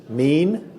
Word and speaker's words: min: So we're down here at the ark, and we wanted to talk today about mean. Mean. Are you mean? No, it's not spelled that way. It's spelled That's right. It's M-I-N.